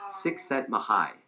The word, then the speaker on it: Csikszentmihalyi: The author, and I believe I'm pronouncing this like 80% correctly. The author's name is Mihai Csikszentmihalyi. I think that's how you pronounce his name.